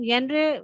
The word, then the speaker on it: genre: This book as फार एज जेनरे is concern, जेनरे जो हम लिखते हैं GENRE, लेकिन हम साउंड करते हैं जेनरे। जेनरे मीन्स हाँ उसके किसके बारे उसमें में जे है। साइलेंट है ना। हाँ, हाँ, जी साइलेंट है, वेरी गुड।